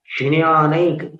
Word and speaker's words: ज्ञानैक: ज पूरा नहीं बोलना है, सिर्फ ज के स्थान पर अपने मुख के अवयवों को व्यवस्थित करना है। प्रवितत ज्ञानैक, ज्ञानैक, फिर ज में ञ मिलाना है तो एक सुंदर सी ध्वनि होती है ज्ञान, ये एक हल्की सी क्लिक, इंटरनल क्लिक जैसी आवाज होती है। ज्ञानैक मूर्ति विभु, वो यहां महसूस होती है। तालु, ज और ञ दोनों ही तालु से उच्चारित होने वाले वर्ण हैं, व्यंजन है।